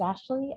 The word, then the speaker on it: Ashleigh: and my fantastic co-panelist my name is ashley as been said for anyone documenting this my first name is spelled ash leigh i once was described